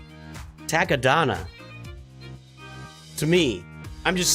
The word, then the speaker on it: Takodana: Who doesn't pronounce it Takodana? I don't know. It's Takodana.